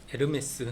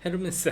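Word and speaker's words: Hermès: 그래서 Hermana 뭐 이렇게 헤르마나라고 읽지 않고 H가 묵음. 에르메스 생각하세요. 헤르메스 아니고 에르메스. 그래서 뚜 에르마나.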